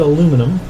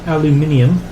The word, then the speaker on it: aluminium: Cu co2 plus some solid aluminum or aluminium as its correctly pronounced so copper to chloride